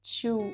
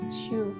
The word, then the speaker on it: Cho: es Chio, que es Chu. Se escribe Cho, pero vamos a decir Chu, ¿vale?